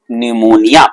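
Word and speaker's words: pneumonia: दूसरे पी से होता है निमोनिया। पी साइलेंट है यहां पे भाई।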